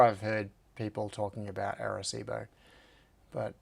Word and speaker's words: Arecibo: Where is Arecibo? Yeah, Cibo. Okay. Thanks, Michael. You've corrected my pronunciation.